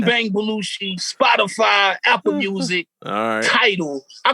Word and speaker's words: Tidal: But it's Tidal. How you like me now? I'm on that Tadal. Somebody said it wrong to me before, and I said it wrong for once.